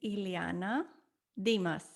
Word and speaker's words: Iliana Dima: and how you say it my name is Ileana Dimas thank you Ileana so you're welcome where are